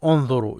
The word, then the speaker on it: انظروا: Notice this wa here, this vowel. This as I said, is just there. It's not pronounced. So انظروا.